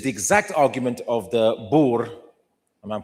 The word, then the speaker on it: Boer: This is the exact argument of the Boer, and I'm pronouncing it properly.